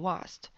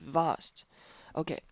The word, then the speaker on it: vast: w 的音，不要发成 vast，应该是 vast。OK，然后 wonder 呢，这个大